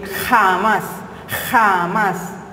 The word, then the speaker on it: jamás: La J se pronuncia en el velo del paladar, en el español tradicional de España y de otras regiones de América, ¿no? Jamás. Nosotros decimos jamás, mucho más suave.